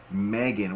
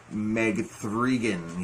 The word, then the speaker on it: M3GAN: movie of this year Megan well if you would if you would want to put a pronunciation to it Meg thrigin you know it's not a third movie or anything like that it's just part